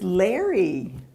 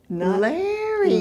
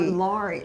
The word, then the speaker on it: Larry: It's Larry. Larry. Not Laurie.